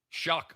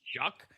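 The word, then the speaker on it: Shough: Shock. Shock. Can't pronounce that. Shuck.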